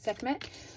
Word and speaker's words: Sekhmet: And I just heard Sek, I think is how you say it, Sekhmet. So Sekhmet may be reaching out to you as well.